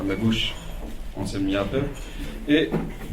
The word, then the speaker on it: Jappe: Donc, Anselm Yappe, ça s'écrit Jappe, qui enseigne la philosophie